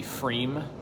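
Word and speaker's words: Pfriem: other well-established breweries there most notably frame which is spelled p-f-r-i-e-m and that was probably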